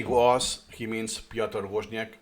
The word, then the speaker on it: Woźniak: When he say was, he means Piotr Woźniak, or pronounce it in Polish, Piotr Woźniak. Usually in the community, we just say was. Or as I said, was. Perhaps it's not the best pronunciation, but it's how I pronounce it intuitively.